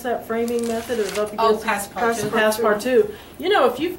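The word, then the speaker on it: passe-partout: And then also a problem with museum and coated glass, also with, how did you pronounce that framing method? Oh, passepartout.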